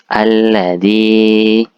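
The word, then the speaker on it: الَّذِي: sebelumnya berharakat kasrahah kalau Mad thii tadi dibaca Dua harakat ya dua ketukan alladzi S du alladzi dibaca agak panjang dua harakat atau dua ketukan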